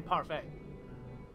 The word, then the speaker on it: parfait: sparkling stars it's a parfait but it's got stars all over it so it's a starfang the t is silent in parfait okay so i bought